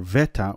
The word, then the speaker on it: beta: And the reason that is the way that it is because the ancient Greek and the Koine, the beta was not pronounced as a B, but as a V.